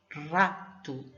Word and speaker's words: rato: Então, a nossa palavra de hoje é rato. A palavra rato. A palavra rato tem duas sílabas. Rato. Como veem, o som do ré é forte.